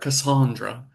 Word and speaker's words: Cassandra: Cassandra with a long a Yes.